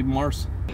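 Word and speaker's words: Marc: It's M-A-R-C. Yeah. If you say M-A-R-K. Wouldn't that be pronounced Mars? He'll know that you're saying it with a K, and he will lose his that's marbles. That's why I'll just say Mars.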